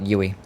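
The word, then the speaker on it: Youi: in Australia called UI it's spelled y o UI for you insured and it is call it yui oh god let's go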